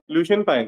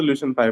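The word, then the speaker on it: Lucian Pye: है किसने दिया है लुसन पाई ने जो जैसे भी प्रोनाउंस करो मैं तो ल्यूसन पाई बोलता हूं लुसन पाई ने ये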